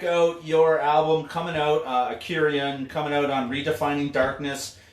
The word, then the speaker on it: Akurion: now that I Kurian is that how you pronounce it yeah Kurian yeah that's coming out on redefining out the